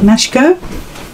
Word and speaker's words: Machiko: you could make so this is mashico sort of rhymes with sashko and if you want